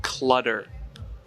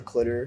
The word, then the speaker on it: CLTTR: It's CLTTR and it's pronounced clutter. Clutter. Not anything else. Oh, should we address the clitter controversy?